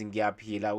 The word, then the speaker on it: ngiyaphila: And then how you respond is ngiyaphila, which means I'm fine, I'm okay, and I am alive. Okay, how you spell it? Ngiyaphila, like how you peel the orange.